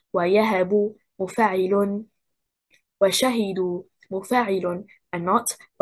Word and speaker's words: وشهدوا: The stress is on the second حركة, حركة الشين. We say وشهدوا مفاعل and not وشهدوا مفاعل and not وشهدوا مفاعل and not وشهدوا مفاعل.